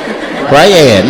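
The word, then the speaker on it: Brayad: Brad. B R A Y A D. Then why you say it like that? Is this Brad? Briad. My name is Briad.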